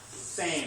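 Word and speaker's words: Sejm: Representatives in Poland it's called this and it's pronounced same same same like it's the same okay in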